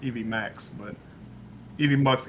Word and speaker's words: Evmux: the program for this software they said it's pronounced Evie Max but even box Evie Max it's been the same okay well um I